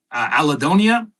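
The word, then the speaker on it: allodynia: Allodonia or allodonia, I've heard it pronounced both ways.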